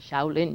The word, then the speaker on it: Shaolin: Shaolin, you got it. Good pronunciation, yes.